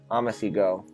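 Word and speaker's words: OmiseGO: OMG it's this one ama see go is actually how it's pronounced so it's this one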